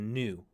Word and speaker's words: nu: a v it's a new it's a new it's got that pointed bottom here so it's a new new so when you're reading this don't pronounce it V it's n NN new this is probably the